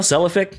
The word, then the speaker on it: Cephalic: I have a comment from Human Falafel on episode 217 with Cephalic Carnage. Am I saying that correctly? Cephalic Carnage. Cephalic. Yeah, Cephalic.